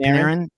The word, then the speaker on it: Panarin: Now I don't know how to pronounce this hockey player's name. Panarin? Is it Panarin?